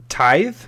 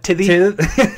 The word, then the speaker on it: Tithe: to talk about is Tithe, right? Yes. Is that how I pronounce it? All right. I call it Tithy. Tithy. You pronounce that E at the end.